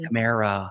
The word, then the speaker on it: Kamara: That was Alvin Kamara. I was going to say, does it rhyme with Shamara?